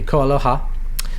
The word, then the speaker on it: KoAloha: There is something about KoAloha, and sorry, I should say it properly, KoAloha.